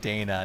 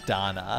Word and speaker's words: Dana: and thank you for that is that I mispronounce the name of the game and it's lacrimosa of Dana not Donna here's the thing so here's the thing technically